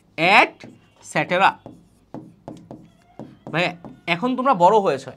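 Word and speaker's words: et cetera: করো করো ইটিসি কিন্তু ইটিসি কিন্তু বলা যাবে না এটার উচ্চারণ হচ্ছে এট স্যাটেরা ভাইয়া এখন তোমরা বড়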